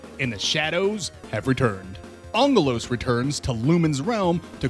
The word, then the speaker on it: Aggelos: And yes, it is pronounced Angelus. Angelus. Angelus. It's the Greek word for angel.